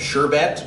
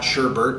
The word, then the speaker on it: sherbet: fashion we think of sherbet because it's not sherbert there's no r in that second syllable so stop saying sherbert sorbet it's it's similar